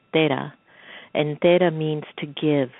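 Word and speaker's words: तेरह: And in Indian culture, in Hindi, 13 is pronounced as Tera.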